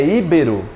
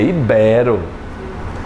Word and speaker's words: ibero: É íbero ou ibero? É ibero. Ibero.